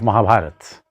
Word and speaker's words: Mahabharat: Instead of Mahabharata, say Mahabharat.